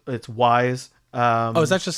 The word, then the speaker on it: Wwise: I called it WWise forever, and then I watched one of their tutorial videos, and they were like, "So welcome to Wise," and I was like, "Oh, I'm saying it wrong."